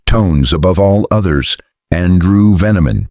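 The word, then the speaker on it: Veniamin: Melbourne's underworld spoke one name in hushed tones above all others: Andrew Veneman, pronounced Veni Amen.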